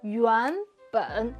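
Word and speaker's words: 原本: Something to pay attention to with regard to pronunciation though, is that 'yuanben,' is a second third combination.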